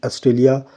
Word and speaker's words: Australia: From Australia, which all feature we have borrowed in Indian constitution, right? So as you pronounce the word Australia, Australia, so here stress come on the word T, right?